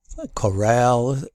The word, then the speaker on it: corral: to the last syllables like coral and Corral Corral shifts the stress to the second syllable so this works just